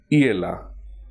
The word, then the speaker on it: hiela: Hence, the present indicative form is hiela. H is silent.